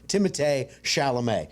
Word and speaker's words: Timothée Chalamet: But I'm going to call him the way he said his name is correctly pronounced, which is Timothée Chalamet.